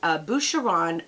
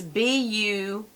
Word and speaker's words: Boucheron: And this is a 3.4 ounce perfume bottle, and this is Boucheron Eau de Parfum. It's B-O-U-C-H-E-R-O-N. It sounds like Buchanan, only it's Boucheron. I don't know. I think I'm pronouncing it right.